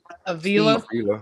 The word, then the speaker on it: Avila: Avila.